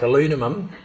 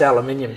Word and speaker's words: aluminium: were pronouncing things like aluminum, and I'm saying, no, it's aluminium, sweetheart. No, it's aluminium, I'm telling you. Where I'm from, it's aluminium. That's all there is to it.